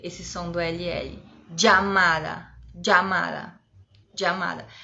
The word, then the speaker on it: llamada: Llamada, llamada, llamada. É como se fosse um DJ, llamada.